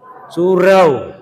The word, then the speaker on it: surau: itu namanya Sur apa namanya surra SY wau ro I Sur ah orang awak membacanya su Surau nah di Surau tampai